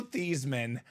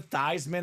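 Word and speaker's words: Theismann: staff says Hey Joe let's change the pronunciation of your name to thyman so it can be thyman for the Heisman the Heisman did not come but the name stuck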